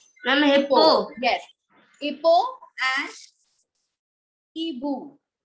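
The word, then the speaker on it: hibou: Hippo and Ibu. Ibu. Ibu. is, yes, H is silent in French.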